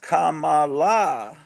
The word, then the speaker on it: Kamala: want to I am one of us corrects me it's pronounced Kamala and John gorus says